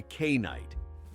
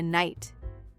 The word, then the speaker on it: knight: I called him a kite and everyone laughed at me. No. Ah, I see. You mean a knight? Yes. Why is there a K if we don't say it?